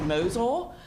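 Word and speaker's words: Mosyle: the iPads um that first software item is pronounced mosul and then Apple classroom at the high school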